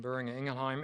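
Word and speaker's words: Boehringer Ingelheim: John Michelle Boris from Buring Ingleheim.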